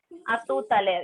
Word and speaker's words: à tout à l'heure: À tout à l'heure.